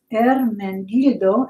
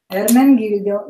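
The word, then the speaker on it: Ermenegildo: All right, here's that word, that name that people have trouble pronouncing. I do too, but I know a little Italian. It is Ermengildo Zegna. Ermengildo Zegna.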